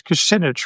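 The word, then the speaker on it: Kucinich: So, Dennis Cassinich rhymes with spinach.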